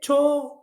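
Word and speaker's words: toget: the train okay it to it to to and g is silent here okay J is silent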